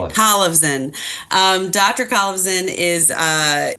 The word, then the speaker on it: Kolevzon: I keep saying your name wrong. I'm sorry I asked to Civan like Collivan.